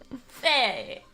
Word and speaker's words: Fey: Faye. That's how it's pronounced culturally in Karine Village.